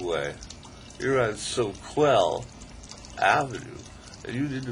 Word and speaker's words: Soquel: Correctly pronounced Soquel.